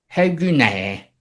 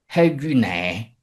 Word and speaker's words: ἡ γυνή: On prononce en effet : si l’on considère la prononciation, l’article (ἡ) et le nom (γυνή) ne forment en réalité qu’un seul mot, même s’ils s’écrivent séparés: ; si bien que l’article